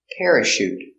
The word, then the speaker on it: parachute: that your chauffeur pronunciation parachute pronounce this with the air pair uh Tara soft sound shoot shoot parachute you need a